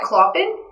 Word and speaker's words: Clopin: It's Clopin, and he's the jester guy. Clopin? Yeah. That's what we're going with, yeah. It's some French name. It's French pronunciation, but it's that.